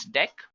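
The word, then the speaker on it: deque: it is written as DQ but we can pronounce this as deck not talking about deck what actually it is used for so deck pronounced as deck is an optimized list to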